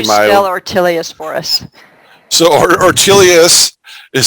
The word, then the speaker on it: Ortelius: you can see my artillious for us so artelias is spelled o r t e l s it's